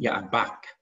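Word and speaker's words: יבק: The river Jabbok is pronounced Yaabach.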